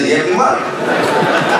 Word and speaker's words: Liyeplimal: Voilà un Philippien qui prononce bien Yeblimal.